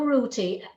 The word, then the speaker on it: Ruti: This is not me not able to pronounce my THs, but her name is spelled R-U-T-I.